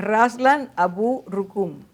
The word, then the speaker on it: Raslan Abu Rukun: Y a ver si lo digo bien. Raslan Abu Rukun. Abu. Sí, exacto, exacto.